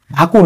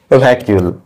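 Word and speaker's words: vacuole: লিখছি ভ্যাকিউল বা ভ্যাকিউল আমি আগে এটাকে কি বলতাম জানেন ভাকুল ভাকুল বলতাম ভাল মানে ইংরেজি উচ্চারণ করতাম ভাকুল ঠিক আছে তোমাদের কারো কি হয় এরকম ভাল আমার আগে হতো ভাকুল ভাকুল থেকে আজকে আমি কোন পর্যায়ে পৌঁছেছি ভ্যাকিউল বোঝা গেল যাই হোক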